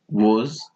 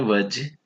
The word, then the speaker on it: was: अब हम पढ़ेंगे वॉज, वर। कुछ लोग इसको पढ़ते हैं वज। इट्स नॉट वज, इट्स वॉज, वॉज, वज, वज।